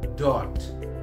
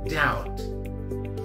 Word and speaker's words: doubt: of us but now is what as a dot and out no it's right it's supposed to be doubt doubt doubt very good okay what about this